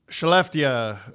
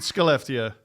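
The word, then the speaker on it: Skellefteå: Uh let me put it uh uh Chalftia, I think. Or is it Scalpia? You're I think Shalia. I think it's Shalia. Yeah, Shell is S ke L L, right?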